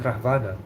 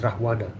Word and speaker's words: Ravana: Oh, Ravana. Oh, okay, we call it Ravan. Oh, you call it Ravan. Okay, yeah. Lord Ram killing Ravan. Is it Ravana or Rahvana? We call it Rahvana.